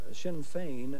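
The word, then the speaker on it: Sinn Féin: it Irish Republican Army no it is uh Shinn Fein Now spell it for me h-i-m-f-a-n-e it's s-i-n-n-f-e-i-n no points on the 30.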